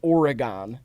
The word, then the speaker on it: Oregon: a not a city like a town called Oregon and it is pronounced that way and so I get them